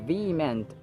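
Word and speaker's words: vehement: in the case of V meant letter H is really not pronounced yada yada Alessandro Alessandro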